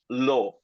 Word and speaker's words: law: then so actually it's law l so we don't really pronounce the W at the end it's we don't really